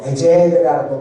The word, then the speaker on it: 에셀: 에벤이라는 단어는 돌이라는 뜻이 있고 또 에셀이라는 단어는 에젤이라고 발음하는데 이것은 바로 도움이라는 뜻이 있습니다.